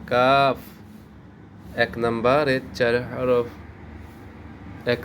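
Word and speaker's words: قاف: এইবার সর্বশেষ এই হরফটার নাম হচ্ছে কাফ।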